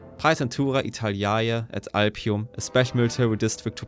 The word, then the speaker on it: Praetentura Italiae et Alpium: the I'm just going to use the latter pronunciation. Pisentura Italaya at Alpium, a special military district to protect northeastern Italy was created.